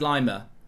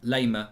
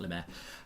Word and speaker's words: Laimer: i just think conrad lima or however you pronounce it leymah lima lemaire it's not lemaire um he's absolutely perfect